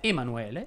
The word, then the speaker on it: Emanuele: e le storie tese emanuele si pronuncia con la è aperta alfredo invece va con